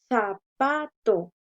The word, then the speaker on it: zapato: Tenemos la palabra zapato. Zapato. Entonces, miramos la posición de la sílaba tónica, última, penúltima y antepenúltima.